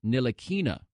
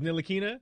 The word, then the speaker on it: Ntilikina: And Shannon, it is Frank Ntilikina. Did you remember that it was Ntilikina?